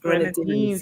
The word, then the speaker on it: Grenadines: Grenadines. You have to skim up your teeth.